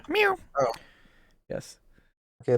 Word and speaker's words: mu: Mu, mu, mu, it's mu, mu, like a cat. Mew.